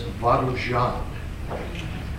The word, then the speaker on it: Varujan: where does it come from uh the correct pronunciation is vuan and it is the swallow the bird and